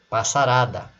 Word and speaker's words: passarada: Quando ela ganha o sufixo ada, se tornando uma outra palavra, ó, passarada, a sílaba tônica não é mais o pas, é o ra.